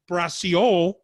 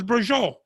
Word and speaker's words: braciole: You don't say Braciole, it's Brajol. So I had to have some kind of lineage where I understood.